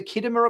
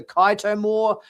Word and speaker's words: Khitomer: I think Sam called, rather than the Khitomer Accords, she called them the Kaito More Accords, and it's like, yeah, that's driving me nuts.